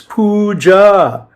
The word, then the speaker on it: puja: It's puja which if you knew Sanskrit donaguri or you